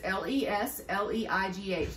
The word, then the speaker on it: Lesleigh: My name is spelled a little different. It's Lesleigh, like Lesleigh.